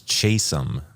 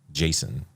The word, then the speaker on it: Chasom: My name is Chesum, not Jason or whatever you called me.